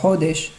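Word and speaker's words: חֹדֶשׁ: Chaque fois qu'on a le mot Hodesh, c'est un mot qui est milérel, qui est paroxyton, donc c'est l'avant-dernière syllabe qui est chantée. Hodesh. Donc on ralentit sur le Het.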